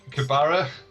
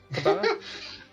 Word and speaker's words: Cabra: That's Your Kabara? Cabra. You're from there. Any pronunciation you say goes like.